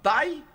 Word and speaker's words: Ty: muito passar pro Felipe você gosta que fale taii ou fica mais fácil taii né Tai tem um jogador de basquete crowell que é um grande jogador uhum e mas fica Tai né Tai Sounds é eu fico eu falo